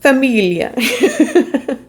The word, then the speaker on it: famiglia: And lastly, we have Famiglia, which I guess in Italian, do you pronounce it the same way? Famiglia.